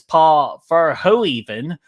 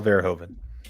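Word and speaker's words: Verhoeven: uh the director is Paul far ho even I know I mispronounced paulov Paul verhoven there you go thank you br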